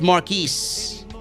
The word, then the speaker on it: Marquise: My name is not Marcus, bro. It's Marquise.